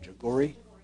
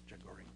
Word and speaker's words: Jaghoori: How are we pronouncing the petitioner's name? Jagori. Jagori.